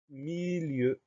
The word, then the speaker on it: milieu: Le mot suivant, c'est le mot milieu. Première syllabe, mi, M-I. Deuxième syllabe, lieu, L-I-E-U. Le son E s'écrit E-U dans ce mot-là.